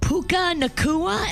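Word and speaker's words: Puka Nacua: So, you can't blame Puka Nakua.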